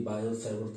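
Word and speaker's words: Biot-Savart: या इसकी जगह पे ये भी हो सकता है कि बायो-सैवर्थ लॉ। आपको मालूम ही है कि टी साइलेंट होता है तो बायो-सैवर्थ लॉ बोलते हैं।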